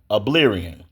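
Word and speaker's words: Albion: The game keeps crashing every time I teleport to Oblion. That that's spelled A L B I O N.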